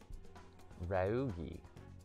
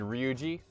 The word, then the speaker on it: Ryuji: Ryugi. Oh, you mean Ryuji?